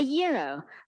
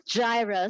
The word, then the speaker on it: gyro: sandwich I've ever had in my life a Euro pronounced yo none of this gyro stuff it means Greek for turn the one